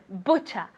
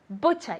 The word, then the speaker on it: butcher: To know if you're saying it correctly or not, put your hand and make sure you feel air, okay? Aire. So, butcher, butcher.